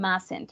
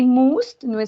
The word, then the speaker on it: must: means using must and mustn't remember the pronunciation must and mustn't okay we are not going to say most most remember the sound